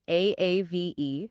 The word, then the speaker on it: Aave: The protocol name is spelled AAVE. And yes, it is pronounced Aave.